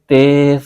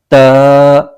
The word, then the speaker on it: ت: لہجے میں ادا کریں۔ اردو تلفظ سے پرہیز کریں، یعنی بے، تے، سے، خے وغیرہ ہرگز نہ پڑھیں، بلکہ با، تا، ثا پڑھیں۔ ان 29 حروف میں